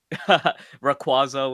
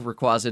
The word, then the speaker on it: Rayquaza: It's still Rayquaza to me. Rayquaza. Jayquaza. The reason I remember it now is I'm like, well, just remember Jay Quaza and then it it works, right?